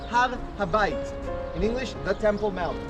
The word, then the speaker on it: Har HaBayit: In Hebrew, it's pronounced Har Habayit.